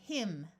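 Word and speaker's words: hymn: so we have cyst MN at the end of a word will have a silent n so this word is him th will use its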